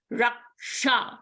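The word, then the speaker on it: रक्षा: Like in Hindi, we pronounce as raksha, kshetra. So it is a ka and a sha sound, raksha.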